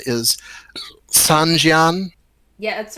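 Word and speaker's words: sanxian: does everybody know what I think the pronunciation is Sanjian? Yeah, that's right, Sanjan.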